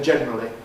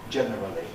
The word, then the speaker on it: generally: I always say generally not generally. I think I will say reference not reference but I know other people say that.